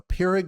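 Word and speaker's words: Pyrrhic: of the word uh it's p y r r hi i c k so I think it's peric victory but it's a victory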